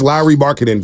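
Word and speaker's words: Markkanen: low marketing okay and yes it's low marketing Sarah Todd told us here for everybody confused on how to pronounce Lowry marketing because people are telling us it's lry marketing it's lry marketing well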